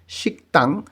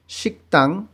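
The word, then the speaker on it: 식당: গিয়ক বাচ্ছিমের পরে যদি দিয়ত থাকে তখন এই দ এর উচ্চারণ দ না হয়ে ত উচ্চারণ হবে। এইখানে উচ্চারণ হবে শিকতাং রেস্টুরেন্ট, শিকতাং রেস্টুরেন্ট।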